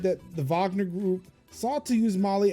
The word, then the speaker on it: Wagner: Wagner Group, yeah. Even though it's spelled with a W, but you know, Russia.